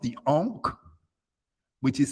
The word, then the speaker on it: Ankh: her hand two symbols one is called the Ankh which is spelled a-n-k-h the ark means life l-i-f-e life